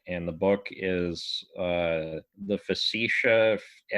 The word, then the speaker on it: Facetiae: It's Poggio, Poggio, and the book is The Facetiae, Facetiae.